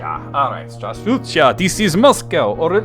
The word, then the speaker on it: Здравствуйте: In Russia, it's said as Здравствуйте. Здравствуйте. Alright, Здравствуйте.